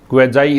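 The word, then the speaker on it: quasi: तो ये एक प्रीफिक्स है, क्वेजाई इसका प्रोनाउंसिएशन है।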